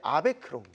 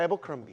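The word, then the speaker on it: Abercrombie: 한국식으로 발음한다면 이제 아베크롬비. 아베크롬비. 네. 그러나 이제 영어 원어로 바르면 에버크럼비.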